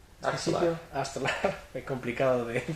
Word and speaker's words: Aartselaar: Arstelar? Aartselaar Very complex to pronounce...